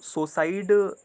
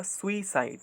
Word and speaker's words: suicide: तो सुसाइड ना बोल के अगर हम लोग सही तरीके से इसको प्रोनाउंसिएट करें तो सही तरीका होगा सुइसाइड, ताकि आपको स्पेलिंग में दिक्कत ना हो.